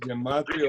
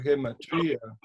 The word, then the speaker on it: gematría: Algunos lo pronuncian gematria, otro gematría.